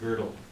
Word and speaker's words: Gödel: See, when you have the O, that's pronounced Gödel.